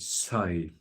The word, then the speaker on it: soithigh: Sigh, Soithigh, sigh. It's pronounced sigh.